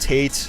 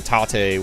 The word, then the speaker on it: tate: I pronounce it both Tate, which is kind of, to me, the Americanized way of saying it, and then Tate, which is the Japanese way of saying it.